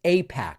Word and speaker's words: AIPAC: To pretend that he doesn't know what Apac pretending doesn't know what APAC pretending it could be pronounced IPAC is just insulting to anyone who follows this channel.